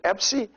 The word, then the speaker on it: Epsi: And this letter, it's called Epsi, and it's pronounced like both P followed by the sound of S together.